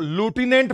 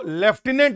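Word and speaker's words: lieutenant: क्या हो जाएगा सर इसको हम लोग लुटने पढ़ते हैं लोग इसको लेफ्टिनेंट बोलते हैं लेकिन लूटने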